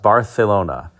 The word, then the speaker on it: Barcelona: the AMC Matador Barcelona, or as it's correctly pronounced, Barcelona.